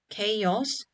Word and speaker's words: chaos: Chaos contain a diphthong a and an extra vowel sound o, which make it a 2-syllable word.